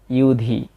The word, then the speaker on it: যুধি: এবং এরপর আছে ইউধি, এখানে অন্তস্থ জয়ের উচ্চারণটা হচ্ছে ই অ, তবে কার চিহ্ন হওয়ার কারণে ই উ হয়েছে, ইউধি।